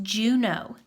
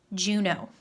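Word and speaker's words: Juneau: of looks like a funny word but it's pronounced Juno Juno so on our paper number five is going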